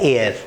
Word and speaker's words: heir: HEIR बहुत आता है एग्जाम में, इसको प्रोनाउंस किया जाता है एयर. अब जब मैं इसको एयर प्रोनाउंस करता हूँ तो it gives me a sound of a vowel. Vowel का साउंड देगा तो अ गलत है, अ की जगह आना चाहिए एन एयर.